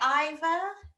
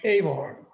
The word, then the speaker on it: Eivor: But we love you most as CNUT from The Last Kingdom, and you're very popular playing, is it Ivor? In Assassin's Creed Valhalla, is Ivor? Eivor. Eivor. Sorry.